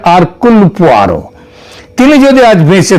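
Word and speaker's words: Hercule: যদিও ওই উচ্চার উচ্চারণে এটা হয় হারকিউল কিন্তু একচুয়ালি উচ্চারণটা হচ্ছে আরকুল পোয়ারো তিনি যদি আজ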